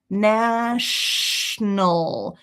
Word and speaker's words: national: So it's shh, shh, national, national. You can't do it in 2 syllables without getting that consonant blend together. National. If that's difficult for you, no worries, because it's totally fine to say national, no.